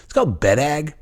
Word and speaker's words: Boreg: And it's called bedag. Sounds weird, right? And it's spelled nothing like that. It's spelled like B-O-R-E-G, it's Boreg, but it's pronounced bedag.